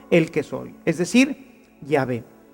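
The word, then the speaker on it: Yahweh: que soy es decir llave y sabemos que se escribe y se pronuncia así por otras palabras que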